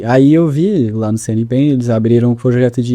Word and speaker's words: CNPEM: CNPEM. Assim que eles pronuncia? falam. Ah, tá, CNPEM.